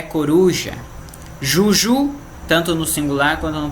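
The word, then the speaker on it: joujou: Genou, genou no singular e no plural, mesma pronúncia. Joelho. Ibu no singular e no plural, mesma coisa. Ibu, que é coruja. Juju, tanto no singular quanto no plural.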